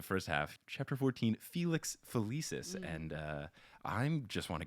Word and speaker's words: Felicis: Is that how you pronounce it? I don't know. I'm probably wrong, and I'll get Felix yelled at. Felicis is the way Felix that- really? Felicis.